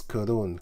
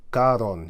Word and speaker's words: Karun: He says karun. Karon. He says, but it's actually karun.